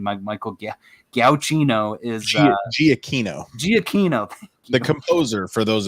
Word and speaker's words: Giacchino: Michael Giacchino is Giacchino.